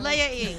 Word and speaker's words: Leia: No, I'm not Leah. I'm Leia.